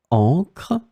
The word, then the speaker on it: encre: In this lesson, we will see together two words that are written differently but pronounced the same way. Encre, encre.